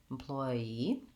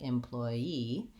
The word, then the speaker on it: employee: might find that difficult in that case I have second syllable stress as I said before we also can say this word employee with last syllable stress in which case it would be more like employee same sounds but I